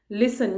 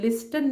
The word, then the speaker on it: listen: लिसन, यहाँ पे LISTEN है, तो टी को हम बोलते नहीं हैं, लिस्टन नहीं बोलते, वो रॉन्ग हो जाता है, हम बोलते हैं लिसन, तो टी साइलेंट है।